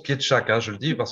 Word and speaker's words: Pietrzak: Hein, alors, ton nom se prononce Pietschak, hein, je le dis parce Ah, que tout à fait.